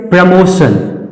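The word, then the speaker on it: promotion: ratio ratio उसी तरह से प्रमोशन प्रमोशन क्यों क्योंकि टी के तुरंत बाद आई ओ आया और इस टी का सही उच्चारण हो जाएगा सा और कैसा सा तालव्य वाला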